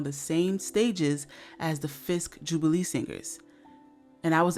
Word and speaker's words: Fisk: by the way, not Frisk. Maybe I accidentally said Frisk at some point in my last video, I don't know, but I do know it is pronounced Fisk, and there is no R.